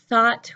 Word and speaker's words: thought: what he thought about thought remember your tongue your tongue is between your teeth for thought thought thought taught my